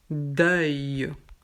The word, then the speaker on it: deuil: Ici, c'est le motif EUIL. Donc EUIL, c'est ouvert. Donc, on prononce deuil. Œil comme œil, deuil.